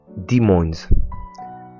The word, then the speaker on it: Des Moines: À prononcer Des Moines. Ça vient du français, nom qui avait été donné par une colonie qui était là précédemment.